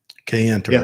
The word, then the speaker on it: Kayenta: went to the code talkers Museum down in Kayenta Kayenta right said it right and I like Burger